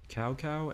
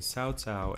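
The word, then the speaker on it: Cao Cao: think in the comments cow cow and cow pee and cow P are both mispronunciations of the name Sao Tao and Sao Pi yeah the most important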